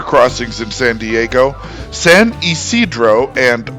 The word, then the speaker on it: Ysidro: English speakers who are unfamiliar with the area are tempted to say Ysidro, but this one remains true to Spanish pronunciation, and it's Isidro.